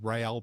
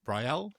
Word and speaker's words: Rael: read it as Real Braverman, and it sounds like a third division Spanish football team, but it's Braverman's husband, isn't it? Rael Braverman, Suala's husband.